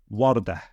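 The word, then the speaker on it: وردة: But if it's the last word in the sentence, then we would pronounce it as a ha with a sukoon, like this. Wardah, wardah.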